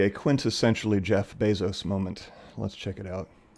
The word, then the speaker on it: Bezos: I've always called him Jeff Bezos. Probably because it's fun to say Bezos. Uh, but it's actually pronounced Bezos. Uh, his family is from Cuba originally and so it has the Spanish pronunciation of Bezos.